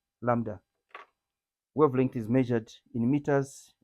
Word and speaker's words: lambda: must write this is B is silent so we say Lambda that's your wavelength B is silent Lambda wavelength is measured in